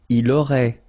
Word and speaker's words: il aurait: Il aurait, elle aurait, final T not pronounced.